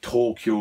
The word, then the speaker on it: Tokyo: The pronunciation of Tokyo is actually Tokyo. That's how it's pronounced in Japanese.